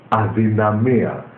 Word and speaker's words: αδυναμία: Or you can write it with D, but you will be pronounced it differently. Adinamia with broken Greek, but the correct Greek accent is not adinamia, adinamia. So it's with Athens accent.